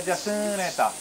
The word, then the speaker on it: Yacyretá: Yacyretá se pronuncia Yacyretá. ¿Se dan cuenta? Ahí viene el sonido nasal.